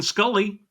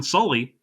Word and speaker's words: Sully: And Tom Hanks reprising his role as Captain Scully, Mm, Captain Sully.